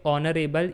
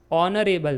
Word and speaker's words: honorable: Because when you say honorable even though it starts with H but that H is silent in speaking. While speaking we say honorable man.